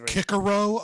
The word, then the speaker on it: Cicero: When I asked you in a second, it's pronounced Kikaro.